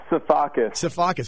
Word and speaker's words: Safakis: Safakis, exactly how it's spelled.